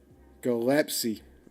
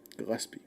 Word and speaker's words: Gillespie: Gillespie. That's how you're supposed to say it, chat. You guys are saying it wrong. That's why he had to correct you. When Jeremiah speaks, you listen. Or Jeremiah is speaking, listen and learn.